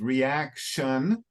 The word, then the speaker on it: reaction: the last word is reaction reaction done yeah it's a heart it's it's like that's a strange thing in English that a t i is pronounced like sh like s h very strange but English